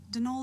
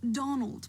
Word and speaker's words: Donal: Then the first option and then the first option Dol Delaney, not Donald, mind you. There's no D at the end, so it's pronounced.